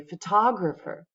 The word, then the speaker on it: photograph: pictures, I would say photographer. But if I'm talking about the thing that this person takes, I would say photograph. The stress is totally different, right? And it changes the way the word sounds.